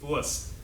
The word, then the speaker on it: Wurst: It's Wurst.